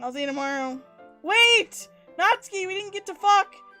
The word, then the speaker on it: Natsuki: Just like that, Natsuki is it Natsuki or Natsuki? Natsuki. There's actually quite a fair amount of names you're pronouncing incorrectly.